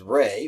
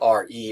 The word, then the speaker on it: Re: The old name for the sun god was Re, which is kind of funny, thinking about sun rays. It was spelled R-E, or usually it's spelled in English, it's spelled R-E.